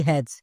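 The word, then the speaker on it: has: যেমন এক্সাম্পল দেখো, এইচ এ এস এর উচ্চারণ কি হবে? হ্যাস নাকি হ্যাজ, কোনটা?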